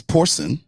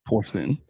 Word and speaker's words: porcine: Actually, it's porcine, is how you pronounce it, porcine.